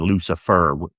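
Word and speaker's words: Lucifur: Lucifer, spelled with a U at the end. Lucifer, as in fur, not the devil.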